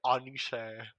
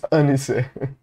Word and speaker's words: Anisha: One of my pronunciation is Anisha. Like, un, not ah, just un. Let me see. Yeah, because it, like, an apple. It's Anisha.